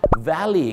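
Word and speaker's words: valet: ให้ vy parking ครับ ที่ จริง แล้ว คำ นี้ ไม่ ได้ ออก เสียง ว่า val นะ ครับ คำ นี้ ก็ ออก เสียง ว่า vy ครับ ผม ้า หุบ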